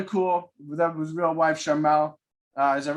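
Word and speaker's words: Sharmell: thought was really cool without his real wife charmelle uh is that right charmelle i'm pronouncing that right that's right yep she uh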